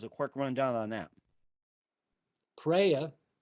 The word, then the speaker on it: preya: Preya, pronounced preya, and shreya, pronounced shreya.